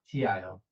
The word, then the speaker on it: Tio: So Theo Theo is T H E O T I O T. English is weird, right? It's pronounced differently even though I know it's Uhhuh.